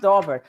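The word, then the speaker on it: Daubert: said about the attorney the dobert family came out and said that's how you pronounce it Dober right when they had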